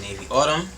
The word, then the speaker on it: NavyAutumn: You gotta type in Navy Autumn. Navy like the color, Autumn as, of course, the weather. It's spelled exactly how it's pronounced.